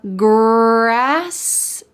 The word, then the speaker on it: grass: This is the R sound, or in American English, we often call this the colored R because it's very strong. Listen to it when I say the word grass. Grass. Does this remind you of an angry dog? Grrr, grrr. And this is a way to have the American English R sound.